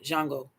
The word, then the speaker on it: Django: character he played in the Django jungle because that's really how you say it it was the